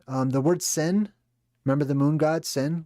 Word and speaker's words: Sin: Another way to pronounce sin. Let me just make it so you guys can read along here. Is suen swen swen sin. It's sin.